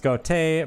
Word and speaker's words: gote: then got a is losing the initiative produce pronounced goatee borrowed it's like the following move so asente and gote i think would be